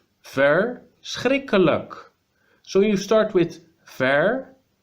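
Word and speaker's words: verschrikkelijk: literally means terrible so terrible in Dutch is first Rick a look fur strike a look so you start with fair with our and then you continue streak khalaq first Rick Alec so even the word itself is terrible to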